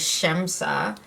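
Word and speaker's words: Šemsa: So let's go on with Shemsa. I watched her IG, and that's her mom's name, and that's how you pronounce it, which is why the little accent symbol is over the first S.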